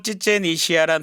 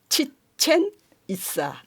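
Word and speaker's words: Chichén Itzá: 새로운 도시를 건설한 거죠 그래서 찌찌엔이시아란 도시가 생겨나게 됐군요이 시야가 아니고 있어요 직첸 이즈 발음이 굉장히 어렵죠 스페인어도 그렇지만 격응이 없고 전부 다 경음으로 돼요 그러니까이 치아가 아니고 이스아거든요 그래서 우리나라에서 보면이 직접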